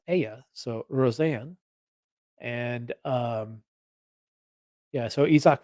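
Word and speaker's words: Rosén: of it there um that that e is pronounced AA so Rosanne and um yeah so isak Rosanne is a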